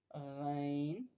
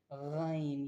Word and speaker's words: غ: गन यह ऐसे अदा होती है। The epic letter गन is pronounce from the middle part of the throat. The same areas as आइन।